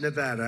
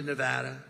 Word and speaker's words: Nevada: want to come to a state known as Nevada has anyone ever heard of it and don't ever mispronounce the name you're not allowed to do